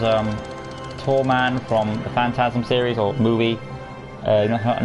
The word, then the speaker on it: Phantasm: tall man from phantasm it's not pronounced phantom it's actually phantasm the phantasm series or